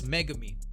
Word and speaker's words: Megumi: This is Megumi.